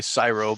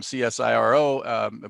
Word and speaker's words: CSIRO: i pronouncing that right i always say syro but uh let's let's start with uh with bryce and uh so you can tell us where you're where you're at uh today and uh tell me am i pronouncing that correctly uh i'm from perth western australia and yes you are pronouncing it some people say just as pronounced just say the whole uh the whole acronym csiro but uh yes for